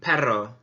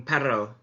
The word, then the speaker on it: perro: Remember to roll your R's. Un perro, un perro, un perro is a dog.